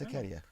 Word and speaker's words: Hiketeia: It's Hecatia. Hike. Down. Written by my boy. As I was spelling it. What? Oh, no, it's Hecatia.